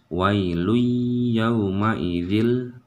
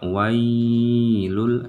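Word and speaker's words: وَيْلٌ يَوْمَئِذٍ: Jadi dibacanya tidak ditahan, tetapi langsung wai ya. Wailun yauma idzil. Jangan dibaca wailul, itu salah.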